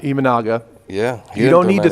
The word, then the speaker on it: Imanaga: the guy on the I always say his name wrong the guy who's got like a point eight yard oh imaga imanaga yeah you don't need to throw a billion